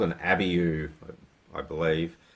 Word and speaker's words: abiu: We've even got one up there that I don't even know how to pronounce. It's called an abiu, I believe.